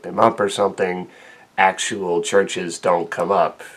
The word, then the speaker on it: Chvrches: song with chris brown and tyke it's actually pronounced churches the so-called v that you are seeing in